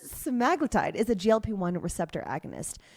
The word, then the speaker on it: semaglutide: We're talking about weight loss medications, specifically Semaglutide. That is how you pronounce it. It's from Novo Nordisk, the maker. It's Semaglutide, because I hear people say Semaglutide as well.